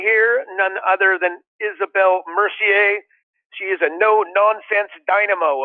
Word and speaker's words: Mercier: Actually, Isabelle, before I get going, your last name, Mercier? Yeah, perfect.